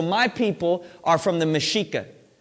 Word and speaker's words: Mexica: Mexica is spelled M-E-X-I-C-A. Okay? So it's not Mexica. Okay? We say the X like a C-H.